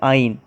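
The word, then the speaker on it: -yne: बेटा primary suffix होगा YNE, जिसके हम बेटा प्रोनाउंसिएशन करेंगे आइन, अगर वहाँ पर ट्रिपल बॉन्ड प्रेजेंट है।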